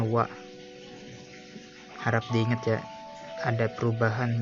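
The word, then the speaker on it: は: Ini dibacanya H ya, tapi beda ceritanya kalau untuk predikat, jadi dibacanya wa.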